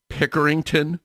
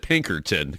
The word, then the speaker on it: Pickerington: and also Library workers at I hope I pronounce this correct it's Pickerington Public Library am I pronouncing that correctly you